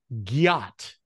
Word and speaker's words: gyat: Have you heard of, and it's everywhere, gyat? Gyat. Gyat. Gyat. It's massacring the word got and Oh, giving it an extra syllable.